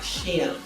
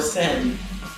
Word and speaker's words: Shem: And the pronunciation is not supposed to be like Shem. Okay? It's supposed to like or Sem.